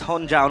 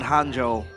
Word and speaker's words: Honjo: It's Honjo, not Hanjo.